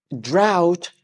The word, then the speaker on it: drought: a nap after this drought rhymes with shout drought rhymes with shout